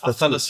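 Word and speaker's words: Athanasiou: 15th is Athanasio. How do you say that again? I always get that wrong. Athanasiu. Athanasiu. Athanasiu. Athanasio. That's Athanasiu. that's the proper way.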